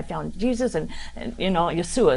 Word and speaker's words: Yeshua: Jesus, and you know, Yeshua is how they say it.